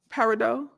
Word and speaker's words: peridot: Running through them again, peridot, red jasper, sunstone, black onyx, amber. Oh, you said the T is silent? So, what is it? Peridot? Peridot? Paradot? The T is silent. It's paradot.